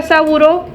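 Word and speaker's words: Sabouraud: lo voy a preguntar saburo se pronuncia saburo se escribe sabour en honor a saburo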